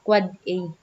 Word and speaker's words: AAA: The NS is an authoritative name server, and the AAA, an end device IPv6 address pronounced quad A.